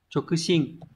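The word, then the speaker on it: 直進: Số 2, từ này đọc là Chokushin.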